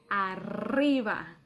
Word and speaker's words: arriba: top we say ah now remember i told you about the er sound the letter the r sound in spanish it's quite strong and because arriba has two r's so it's even stronger so we say arriva you have to exhale a lot of air and your tongue has